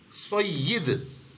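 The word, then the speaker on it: سید: इसी तरह और भी चीजें, जैसे हम सैयद साहब कहते हैं, सैयद भी गलत है, सय्यिद। सही लफ्ज क्या है? या के नीचे जेर है या मकसूर है, सय्यिद।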